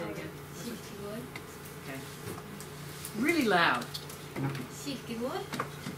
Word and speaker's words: Kierkegaard: Kierkegaard. Kierkegaard.